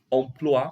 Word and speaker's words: emploi: Lembrar, pessoal, que o O e o I em francês tem um som de UA, tá? Emploi, emploi.